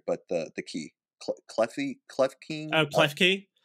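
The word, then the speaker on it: Klefki: Clefki? Oh, Clefki?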